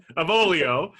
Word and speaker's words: Avolio: And today we are joined by Hallie Avolio. Okay, but we don't have to quite say it like that. Avolio. I just wanted to pull out my little quasi-Italian accent this morning, right?